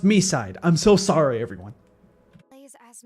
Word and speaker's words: MiSide: A player downloads Mi on their phone and Okay, it's confirmed. It's pronounced Mi side.